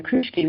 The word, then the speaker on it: Kruschke: Is that how you pronounce her name? Yeah, Kruschke, perfect, yeah.